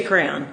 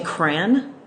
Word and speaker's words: crayon: why o n crayon you say crayon yeah I grew up seeing cran just cran I've never heard that